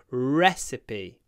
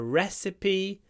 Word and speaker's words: recipe: be recpe but we call it a reip recipe re a recipe for risoto very unusual word recipe recipe the